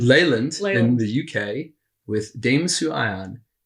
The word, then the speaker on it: Leyland: So I'm here today in Leland. Is it pronounced Leland? It's Leyland. Leyland in the UK with Dame Sue Ion.